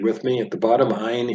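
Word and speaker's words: עין: At the bottom, Ayin is the second of two silent letters, along with the Aleph. Very important, because these, you'll have to memorize the name of them, but they don't make any sound.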